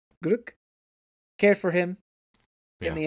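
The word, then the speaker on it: Glück: Gluck.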